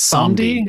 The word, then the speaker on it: Samedi: So Baron, how'd you pronounce it? Samedi? It's Samedi.